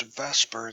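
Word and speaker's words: VSEPR: Now, the model we're going to be using is called the Vesper model, and that's, while it's pronounced Vesper, it's spelled V-S-E-P-R.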